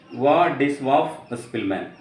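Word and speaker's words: Władysław Szpilman: നമ്മുടെ എഴുത്തുകാരൻ വ്ളാഡിസ്ലാവ് സ്പിൽമാൻ, pronounced Władysław Spilman, born in 1911 and died in 2000, was a Polish pianist.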